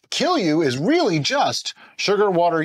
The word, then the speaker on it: Kilju: the J is pronounced like a Y. All right, so for a while now, we have made a couple of different Kilju brews, and our Finnish